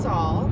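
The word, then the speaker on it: Sul: how to pronounce it didn't know what the like Saul Saul Soul sale she thought my name was Saul her name is Saul yeah which is great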